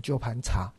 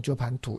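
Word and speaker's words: 鸠盘茶: 么样哦，但是我后来还是觉得应该要念成鸠盘茶，而不是用鸠盘土，因为鸠盘茶的音跟梵音比较近，哦，所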